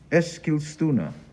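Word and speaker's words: Eskilstuna: in a place i'm going to try and pronounce now you'll tell me if i have it right es skillstunner yes i said it right good that was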